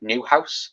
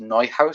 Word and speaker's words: Neuhaus: I know people on Twitter was like Newhouse, but I think it's pronounced Neuhaus.